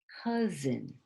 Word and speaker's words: cousin: Cousin. See this S here? It has like a Z sound, like Zao. So cousin.